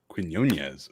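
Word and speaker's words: Quiñones: pronunciation gu slightly better I believe it would be Quinones Quin yones o that is way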